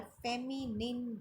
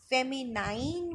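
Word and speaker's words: feminine: हो, they all आर फेमिनिन gender. फेमिनाइन भी बोलते हैं बहुत सारे, या फिर फेमिनिन, both pronunciation are correct.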